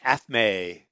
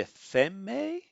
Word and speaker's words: athame: An athame, which I forgot what that is. I think is how it's pronounced.